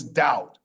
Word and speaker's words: doubt: And this one is doubt. The B is silent.